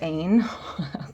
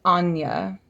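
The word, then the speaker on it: Áine: Next card is, I always said Ain. Clearly I was wrong. It's Anya is how you say it, is Anya. I had no idea, did you? Did you know it was Anya?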